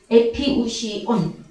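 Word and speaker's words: ἐπιούσιον: 그 다음에 일용할 때 에피우시오스, 형용사 목적격일 때는 에피우시온, 이렇게 발음을 합니다.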